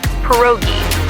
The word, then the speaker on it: pierogi: It's pronounced pierogi, a tasty dish like dumplings.